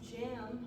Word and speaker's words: JAAMMK: And that is the first episode of the JAAMMK podcast. The K is silent.